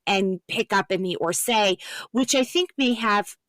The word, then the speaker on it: Orsay: Orsay? Yeah, the D'Orsay. D'Orsay.